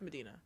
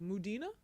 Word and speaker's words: Madinah: confusing so that's fair people tend to say my first name wrong so it's like just give them one name did I get it you say it right yeah it's Medina well yeah first time I saw it you had it just written out phonetically on an open mic you know wild I write it m na and I was at a mic the other day and the guy was like muda I was like D